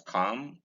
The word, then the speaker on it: calm: Like we came across silent L earlier in such ways as calm, psalm, and palm.